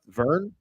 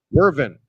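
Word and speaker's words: Wyvern: Includes an image of Morpheus, aka Dream, the Furies, Griffin's Bones, the Hippogriff, and the, how's that pronounced? Vern? Wervin.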